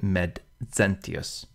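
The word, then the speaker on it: Maecenas: right down the middle the Z is really a D and S put together so the name met cenus Mets is really Med Zenus and the D goes with the first syllable and you can really hear it when you say it met now when we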